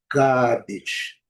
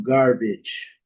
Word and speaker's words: garbage: Então, como que os ingles, o inglês britânico é pronunciado? Gabet. Gabet. Gabet. OK. Dá aquela um azinho mais longo um pouco. E no inglês americano não, garbage.